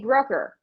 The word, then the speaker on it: Brucker: on the shows is I'd say Brooker rhymes with hooker and they were all